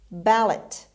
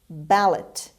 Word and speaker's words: ballot: word of the book ballot ballot ballot the stress is at the beginning means piece of paper